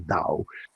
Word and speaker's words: Tao: artists or or taoist tower spell tao we pronounce the dao understand these things and